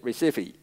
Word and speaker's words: Recife: Yep, Recife.